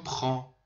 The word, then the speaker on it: prends: همونجور که میبینید je prends، نگید je prends، سر هم بگید je prends. اصلا این د و استی خونده نمیشه.